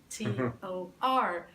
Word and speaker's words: Doktor: It really is pronounced doctor.